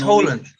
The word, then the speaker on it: Haaland: I went to uni with Norwegians. It's Haaland.